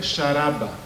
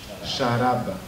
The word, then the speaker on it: Sciarabba: El apellido se pronuncia Sciarabba. Sciarabba.